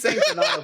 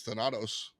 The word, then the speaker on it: Thanatos: So me saying Donato isn't really a problem. Can we talk about that? No, that's clean. That's clean. That's what you say, I think. It's how you say it, dude. I was wrong. It's Thanatos.